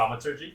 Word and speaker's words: thaumaturgy: I guy- was pronouncing Thaumaturgy? thaumaturgy. Is that how you? Thaumaturgy. Thaumaturgy. No, there's no L.